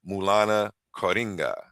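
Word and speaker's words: Maulana Karenga: Mulana Coringa.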